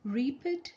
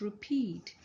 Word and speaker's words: repeat: okay do they say reap it do they say repeat do they say repeat right pet is also wrong it's repeat so you need to